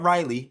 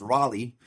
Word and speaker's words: Raleigh: And they're like, hey, it's not Riley, it's Raleigh. And they're like, okay, we're going to go check it out.